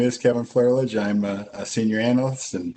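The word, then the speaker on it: Flerlage: So my name is Kevin Flaherlidge.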